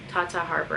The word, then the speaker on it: Tata Harper: Is that how you pronounce it? Tata Harper, yes.